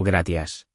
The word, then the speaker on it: gracias: La C de gracias. Suena como S en muchos países, y como Z suave en España, tipo gracias.